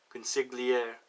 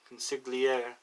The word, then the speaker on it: consigliere: can't pronounce this one because it's con sick Lee air consigliere said a French word I don't know it's felt like that con sick the CEO in sigl ie re consigliere up for aid for